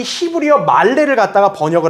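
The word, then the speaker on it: מלא: 히브리어에는요 이 다시 채우고라는 말이 말레라 그래요. 말레. 단어가 히브리어로 발음하면 말레예요.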